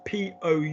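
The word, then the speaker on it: pousser: And how do we pronounce P-O-U-S-S-E-R? How do we pronounce that, Brendan? Pousse. Thank you. Pousse. So two S's make an S and one S makes a Z.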